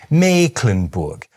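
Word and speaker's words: Mecklenburg: And this kind of thing is repeated all over northern Germany: places like “MEE-klen-burg”, “LÜ-beek” and “BROH-kel”.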